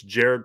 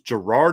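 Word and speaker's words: Gerad: all day how to say his name it's jared parker that's how you say it it's g-e-r-a-d so i didn't know if it was okay is it jared is it jerrod i thought it was gerard at first i didn't notice that there wasn't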